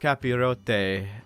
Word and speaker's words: capirote: But no, the tall conical helmets are actually pronounced capirote, and when wearing these, there is sort of a mental metamorphosis that happens.